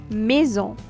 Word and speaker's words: maison: So we have a, e, pronounced like a in bed. Example, maison.